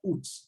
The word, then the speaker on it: août: And août, the U keeps the sound U.